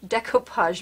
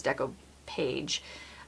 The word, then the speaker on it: decoupage: the deco art deco decoupage medium and that is actually how you say it because it's separated i thought it was deco page but this is the